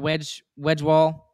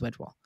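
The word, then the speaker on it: Wedgewood: You've got Wedgewall, who is going to be awesome. Yes, I know I said it wrong. He is Wedgewall.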